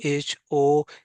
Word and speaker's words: honest: Number 8 bang like she is dash people lake consonant se pronounce po HONEST lake litum honest pula dake h bang silent